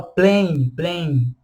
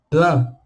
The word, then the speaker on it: plan: A gente não fala plain, ou fain, ou brésilienne. Não, brésilien, plan, sympathique.